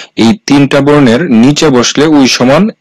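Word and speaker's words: 의사: যেমন উইসা এখানে শব্দটা হচ্ছে উইসা। এখানে প্রথমেই এই শব্দটা বসেছে যার কারণে এই শব্দটা সঠিক উচ্চারণ হবে উইসা যার অর্থ হচ্ছে ডাক্তার।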